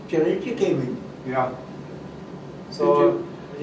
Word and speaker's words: chirality: And life is not possible unless there is chirality.